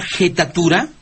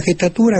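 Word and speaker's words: jettatura: Dicen que le echó una jetatura, o sea, pero se pronuncia una jetatura. Bueno, hay quien lo pronuncia con jetatura.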